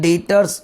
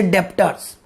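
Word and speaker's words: debtors: दो शब्द आते हैं, एक डेटर्स आता है, या बी साइलेंट है दोस्त, प्लीज डू नॉट से डेप्टर्स, here the बी इज the silent, here the बी इज the silent.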